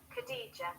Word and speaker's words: Khadija: Khadija.